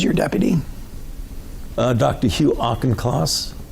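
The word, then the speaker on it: Auchincloss: division directors who's your deputy uh Dr Hugh auchenclass how do you say his last name class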